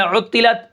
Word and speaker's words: عطلت: اچھا، اس کے بعد جو ہمارا کلمہ ہے وہ ہے عطلت. اس کے ہجے کس طرح ہوں گے؟